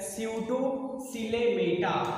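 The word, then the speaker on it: Pseudocoelomata: तो B section जो है ये है स्यूडोसिलेमेटा। क्या है बेटा? स्यूडोसिलेमेटा है। क्या है इसका सेक्शन? स्यूडोसिलेमेटा। तो यहाँ पे पी है तो पी बेटा इसमें क्या है? साइलेंट है, इसलिए हम इसे पढ़ेंगे स्यूडोसिलोमेटा। ठीक है, स्यूडोसिलोमेटा पढ़ेंगे।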